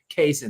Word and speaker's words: Cason: admission that I have been thinking this guy's name was Carson for like 2 years. Not much different than when I was referring to Luka Doncic as like Luka Doncic for years. I was mispronouncing his name for years because, again, I really don't listen to the calls, so to speak. So yes, I just found that out that Wallace's first name is Cason, not Carson.